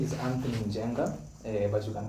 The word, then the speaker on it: Njenga: do that yeah so my name is Anthony Jenga but you can call me Anthony whichever I'm